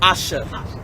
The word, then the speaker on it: Asha: Could you pronounce it one more time? Asha.